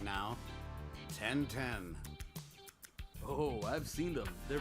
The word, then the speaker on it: 1010: their little two good luck youtube 10 10 pronounced yep 10 10 is a line of handsome robots claiming to